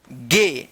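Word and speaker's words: gay: ए के बाद आई, ये रूल है कि जब किसी वर्ड में ए के बाद ए और वाई रहता है तो ए आई और ए वाई का जो उच्चारण होगा वो क्या होगा? ए होगा।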